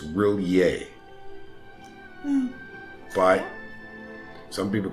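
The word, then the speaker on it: R'lyeh: I think it's Rillier. But some people call it Riley. I think it's Rillier. Because the apostrophe means like a little pause.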